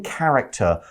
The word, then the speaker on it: character: What we see is the main character won't let anything stop him from becoming King of England. 好，我们这边看到 character 这个单字是我们今天第二个重要单字，我们来看一下它怎么用吧。Character 这个名词呢，代表书本啦、电影或是戏剧里头的人物角色。那发音要特别注意字首的 ch 发的是 k 的声音。那不管是书或电影或是戏剧里面都会有主角，那就是 a main character。那如果是卡通的人物、卡通的角色，a